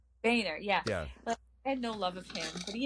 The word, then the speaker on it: Boehner: his name either bone it's that boner it's boy NER bring right Boehner yeah no love affair he had integrity you